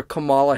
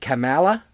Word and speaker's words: Kamala: of being so we're going to go over kamala harris's comments and one thing i do want to pronounce i do want to to bring up